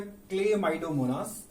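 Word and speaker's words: Chlamydomonas: यहाँ हमने दो के डायग्राम बनाए, एक तो है क्लेमाइडोमोनास। क्लेमाइडोमोनास में एच साइलेंट है।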